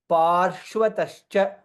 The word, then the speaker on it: पार्श्वतश्च: शकार श्चैव अग्रतः पृष्ठतश्चैव पार्श्वतश्च पा रेफा रकार श्व श and va पार्श्व त श च so all letters should be very clearly pronounced पार्श्वतश्च महाबलौ आकर्ण पूर्ण